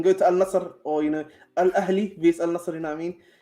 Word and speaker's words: Al Ahli: You know, Al Ahli is the blue team that they lost today.